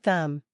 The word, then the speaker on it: thumb: The word thumb. Many learners try to pronounce the B at the end. But in natural English, we simply say thumb.